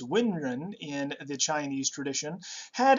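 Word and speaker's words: 文人: The scholar class, known as literati, otherwise pronounced Wenren in the Chinese tradition, had an examination system to recruit government officials that would have been instituted in the Tang dynasty.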